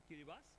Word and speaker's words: Kiribati: Kiribati but when we pronounce we say Kiribas.